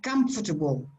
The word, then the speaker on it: comfortable: mean these syllables normally the stress normally goes on the first syllable and that is strong so the this the syllable that is in the middle is very soft and sometimes disappears almost disappears so you say